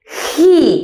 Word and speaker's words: he: He, con H aspirada, nada de he.